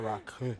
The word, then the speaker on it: Rakı: Well, actually, the belly dancing, actually, believe it or not, came before the Rocky or Rakı. That's how you pronounce it.